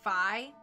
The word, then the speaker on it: Fi: it is meant to according to nintendo rhyme with hi so it should be phi okay well we'll be proper and we'll call her five okay i was going